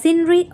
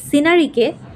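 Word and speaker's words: scenery: পরে দা সিনরি অফ কাশ্মীর। এখানে এই সিনারিকে আমরা সিনারি বলি। কিন্তু এর একচুি উচ্চারণ বলে সিন সিন of Kashmir R beautiful.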